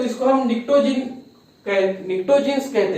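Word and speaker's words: pnictogens: जब नाइट्रोजन family की हम बात करेंगे तो इसको हम निक्टोजीन्स कहते हैं, निक्टोजीन्स, ठीक है। यहाँ पे पी जो साइलेंट है, निक्टोजीन्स कहते हैं।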